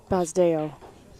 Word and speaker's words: Basdeo: go undefeated Mr suai his first name is pronounced bazo that's what I was